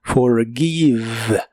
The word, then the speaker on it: forgive: de inglés es forgive la G I de este verbo se pronuncia como gui y la e del final no se pronuncia forgive forgive en el presente